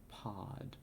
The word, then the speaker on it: pod: The second pronunciation, the O is short as in lot. Pod. Lot, pod, not long as in goat.